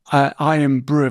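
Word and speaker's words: Irn-Bru: No, well, that's that's spelled Iron Brew. That's I R N.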